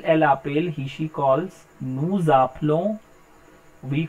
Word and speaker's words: nous appelons: The point is, whenever in a word, if it ends with a consonant, here S is a consonant, and the next word it starts with a vowel, here A is a vowel, so both words will be pronounced together. So instead of saying nous appelons, because last letter of French is always silent, I am saying nous appelons, nous appelons, so it will be pronounced together. Vous appelez, pronounced together.